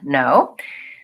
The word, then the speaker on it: know: look look at another common word the word know here we have two letters but actually in